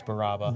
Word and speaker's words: Baraba: I always pronounce his name wrong. I always say Barbara. It's Baraba.